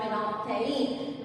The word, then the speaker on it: phenolphthalein: It is called phenolphthalein. Read this word pronunciation correct.